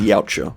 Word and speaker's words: Yautja: Yeah, it's spelled Yautja, but it's pronounced Yautja.